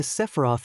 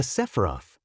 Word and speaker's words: Sephiroth: And for starters, before you start calling me a bird or something, I'm a Sephiroth, okay kid? A Sephiroth. Yeah, a Sephiroth. Learn to pronounce it right.